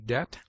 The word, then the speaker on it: debt: It is mute in debt, debtor, subtle, doubt, lamb, limb, dumb, thumb, climb, comb, womb.